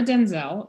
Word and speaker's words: Denzel: introduction so i'm denzel it's pronounced like denzel washington but no relationship yet and then i started